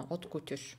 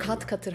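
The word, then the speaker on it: haute couture: Hot couture. Hot couture diyorlarmış. Yani hep hat katır, hat katır deniyor şeyiyle ama aslında yanlış bir telaffuz oluyor.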